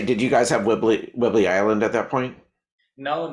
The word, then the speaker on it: Whidbey Island: Is it Whidbey Island? Whidbey? correct, right, Whidbey Island.